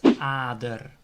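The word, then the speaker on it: ader: in my arm that's other the word starts with an single a but there's just one consonant after the a so it's other apple is apple after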